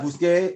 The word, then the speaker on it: busqué: You can't even pronounce that word in Spanish. The tongue can't even do that. S-C and an E beside each other, it's not right. So then you have busqué, and you just follow that same old thing.